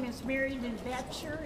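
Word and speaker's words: Boettcher: My name is Mary Lou Bechter. It's spelled B-O-E-T-T-C-H-E-R.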